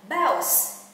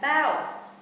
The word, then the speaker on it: bounce: Bố mẹ lưu ý đọc là bounce chứ không phải là bow.